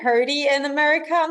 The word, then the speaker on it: Herde: um in German, because I'm German, right? Like it's Herde. Okay. Well, yeah, no, it wasn't doing that. So yeah, you could probably say both, like herd, herdy, whatever floats your boat.